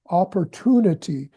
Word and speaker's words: opportunity: when the LD is at the end of a word, world, world, and Word, yeah, word, opportunity with an emphasis on opportunity, to, opportunity, and opportunity.